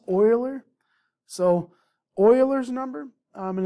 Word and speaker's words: Euler: i think i looked it up and it's pronounced euler so euler's number and it's represented by the